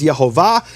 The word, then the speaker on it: Yehovah: as a tradition that the true pronunciation of the name is yahovah and the way he